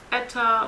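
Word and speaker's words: eta: into the pass over each other effortlessly efficiency pronounced Etta who uses the the symbol at all right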